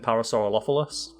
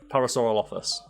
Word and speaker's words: Parasaurolophus: Yeah, so I've got that list in front of me now, so I believe it's pronounced Parasaurolophilus. But there's not an... Okay, I'm not even going to go there. Parasaurolophus.